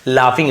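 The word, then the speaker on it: laughing: started शुरू किया लाफिंग इसे लॉगिंग नहीं पढ़ेंगे लाफिंग लाफ ऐसे फ उच्चारण होता है हंसना शुरू किया इंसेड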